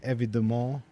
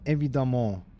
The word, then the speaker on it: évidemment: Bien évidemment. What does that mean? And that was totally the correct pronunciation, by the way. That was totally not fucked. The second E actually is pronounced lol. Pronounced A.